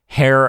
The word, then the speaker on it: heir: It's a very good title that makes people who don't know the game think I'm pronouncing the H in the word heir.